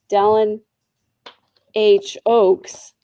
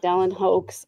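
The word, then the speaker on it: Dallin H. Oaks: I was I was gonna say Don Ho, I'm sorry, Don H. Oaks, not Don Hoax.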